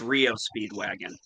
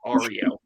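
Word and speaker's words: REO Speedwagon: would pronounce it Aros I pronounce it Rio Speedwagon not Ario okay Paula Paula so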